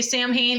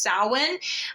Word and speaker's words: Samhain: Sam Samhain sowin you know most people say sam Hein it is actually pronounced Salin um but I'm just gonna say that for